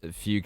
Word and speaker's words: fugue: Is it a fugue state?